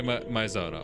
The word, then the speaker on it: 前園: 被害者は前園静香、いや、聖と読むのか。この部屋の借り主です。 Yeah, say Maizona.